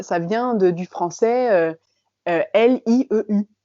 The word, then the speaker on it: lieu: vient de du français L I E U." Et en fait depuis le début il disait lieu, mais comme ils ne savent pas prononcer ce son, ils disent loup des loup.